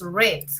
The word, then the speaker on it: read: Ahora, tenemos algunas excepciones como el verbo read, que es leer, que se escribe igual, read, pero la pronunciación cambia. En presente se dice read y en pasado dices red, como el color red, ¿sí?